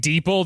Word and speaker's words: DeepL: about deeple fair enough is it pronounced deeple I sure deep l deeple I thought it was deep L but okay I'm like